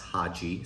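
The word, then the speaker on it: Khadzhi: So it is spelled what, a K-H-A-D-Z-H-I, but it is pronounced Haji.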